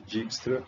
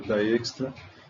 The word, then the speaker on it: Dijkstra: O pessoal chama de Dijkstra, mas o nome dele é holandês, então a pronúncia é Dijkstra, em 1965.